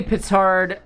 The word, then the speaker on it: petard: do we call it patard are we gonna be hoist by our own patard I think French could work slant-based uh I think it's technically petard uh spelled like p-i-t-t-a-r-d